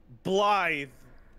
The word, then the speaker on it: Blythe: It is, in fact, because it's using a lot of Gaelic lettering. And I did get a message. The same as you would write B-L-Y-T-H-E. Blythe.